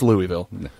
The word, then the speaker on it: Louisville: Once you get over the bridge and you head towards Louisville, I guess I'm saying it wrong. Yeah, Louisville. I'm from the north. It's Louisville.